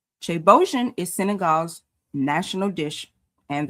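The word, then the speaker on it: ceebu jën: It's actually pronounced chebojin. So chebojin is Senegal's national dish and the original ancestor of West African jollof rice.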